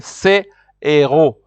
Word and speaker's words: héros: So here you will say c'est héros, because you cannot say c'est zéro. Like I said, it will mean this zero. So here you say c'est héros.